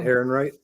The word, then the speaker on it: Ehrenreich: Alden Ehrenreich.